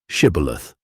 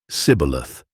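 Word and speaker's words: Shibboleth: If he said, "Nay," then said they unto him, "Say now, Shibath," and he said, "Scaleth," for he could not frame to pronounce it right.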